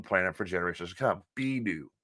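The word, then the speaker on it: Bennu: on our own planet for generations to come B new B new thank you Adam B new B new how it's pronounced this BNN B NN U which is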